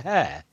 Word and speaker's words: Hare: I thought, is it Mr. Hare? Yeah, it's like hair on top of your head.